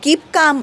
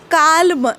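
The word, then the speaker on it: calm: half असं नाही करत शांत म्हणजे काम जेव्हा डोक शांत ठेवून बसायचं असत तेव्हा कीप काम आपण म्हणतो बघा तर कीप काल नाही इट कीप काम ल चा उच्चार सायलेंट आहे तसच सामन एक प्रकारचा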